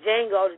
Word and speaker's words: Django: the jail I'm sorry like Django's D is silent and my my Mexican